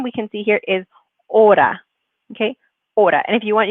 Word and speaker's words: hora: pronouncing them right so this is as you know the ace is a silent letter so we shouldn't pronounce it so order we use